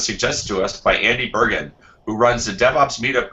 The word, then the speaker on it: Bergin: to us by Andy virgin Andy did I see your last name right no no are you really Bergen ok I even asked